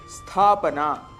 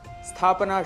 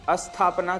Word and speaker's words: स्थापना: स्थापना। स्थापना शुद्ध उच्चारण है, जबकि अशुद्ध उच्चारण हम अस्थापना कर देते हैं, जिसका अर्थ विपरीत है, अर्थात स्थापना न होना, स्टेबल न होना, एस्टैब्लिश न होना।